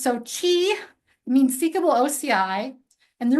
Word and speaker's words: SOCI: in uh AWS Labs introduced in in 20122 pronounced SOI means seekable oci and the reason is because